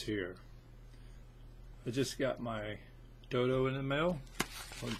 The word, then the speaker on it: Dodow: Some people you see it pronounced all kinds of crazy ways. Dodow, Dodow. No, it's just Dodow. Don't overthink it.